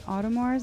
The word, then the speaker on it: Audemars: Speaking of that, we have one of your videos, Mansions and Audemars. Is that how you pronounce it?